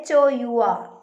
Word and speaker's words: hour: Okay, H-O-U-R. H-O-U-R is the word, but we pronounce or we utter or we say the word like what hour. H is silent there.